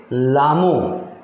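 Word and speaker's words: Lhamo: और इसमें H को साइलेंट रख के पढ़ेंगे तो पढ़ेंगे लामो। जैसे मैंने आपको जगह का नाम बताया था लासा, उसमें भी H साइलेंट था, इसमें भी H साइलेंट।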